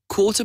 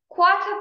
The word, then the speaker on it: quarter: B quarter past 10. quarter past 10. باشه این کتاب بریتیشه، آر رو تلفظ نمی کنه، دقت کن.